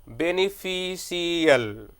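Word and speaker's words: beneficial: तो ये जो लास्ट में आप सीएल बोल रहे हैं, ये this is a wrong pronunciation. तो आपको क्या करना है, सीएल के जगह पे आपको बोलना है शल।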